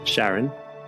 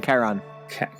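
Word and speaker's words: Charon: so wolf grave meets Sharon Sharon or Sharon what's his wolf grave Karan I thought it was oh Karan yeah it's a CH is a hard C he meets Kon and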